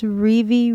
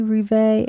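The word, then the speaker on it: Revé: I don't know if how you pronounce this it's rivi rivet it's r e v e and that's his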